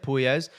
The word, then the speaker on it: Puelles: Dan Hooker picking up the second round TKO victory against Claudio Puelles, and that's how you say it, Puelles.